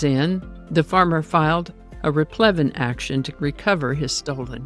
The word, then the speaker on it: replevin: Today's word is replevin. You might also hear it pronounced as replevin. Replevin is a noun that